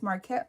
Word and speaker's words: Markette: No, my name is Marquette, like I'm telling you. But for international people, I usually just say like the university, MARQUETTE, but it's spelled MARKETTE, and they get it the first go around.